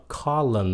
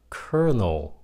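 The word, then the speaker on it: colonel: đó là faad faad chữ này phái âm là orve cái này không có phát âm là colon no Nó là kernel k kel tiếng Anh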